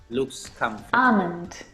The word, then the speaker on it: almond: very comfortable this afternoon almond now in this word the l is silent it's not almond or almond it's ah ah mint almond